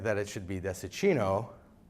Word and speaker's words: Dessicino: grew up pronouncing it Desa sino with a soft C until I started learning Italian at the age of 20 and learned that it should be the Szczecin Oh with the cheese sound and then I moved